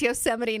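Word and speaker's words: Yosemite: the card and um she pronounced Yoseite National Park Yo. I we we were weeping with tears laughing. She poor girl didn't know. Yeah. here's this like 15-year-old girl that doesn't know that it's Yoseite National Park and we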